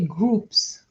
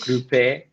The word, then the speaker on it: groupe: Why did you say groups? It's not English. Groupe. Sorry. No. Groupe. Mm-mm. It can't be groupé because there's no accent on the E.